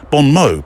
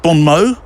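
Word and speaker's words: bon mots: You don't pronounce the S, do you? Or the T. Bon Mo. Bon Mo.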